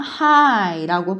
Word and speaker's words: high: 3번의 H는 히읗 소리, I는 I 소리가 나고 GH가 소리가 안 나는 거예요. 그래서 그냥 high라고 발음이 나는데 무슨 뜻이냐면 높은 이라는 뜻이에요.